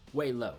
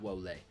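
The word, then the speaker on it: Lo Wei: i'm looking for crosstalk the other way around way low not woe lay way low um yes waylo wanted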